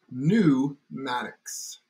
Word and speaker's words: pneumatics: part is Maddox so the actual way to say it is new Maddox drop the P because the English language